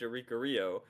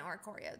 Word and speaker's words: Oricorio: The mighty centipedes are powering up, but without Darkrai, they have no way to damage Oricorio.